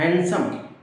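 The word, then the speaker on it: handsome: बोलेंगे तो सेंटेंस गलत जैसे हैंडसम है डी नहीं बोला जाता हैंडसम गार्डन है डी नहीं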